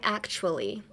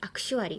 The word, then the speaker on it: actually: Actually, don't try to pronounce the T as much. Don't be like actually.